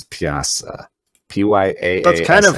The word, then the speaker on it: Pyaasa: on freaking Wikipedia, because it's like Pyaasa, but it's like PJA:SA, and I don't know how to say that, so it doesn't help me pronounce it. I've been really butchering it then. I think it's Pyaasa.